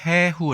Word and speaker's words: 해후: 이 단어는 ' 해후 ' 라고 읽습니다 .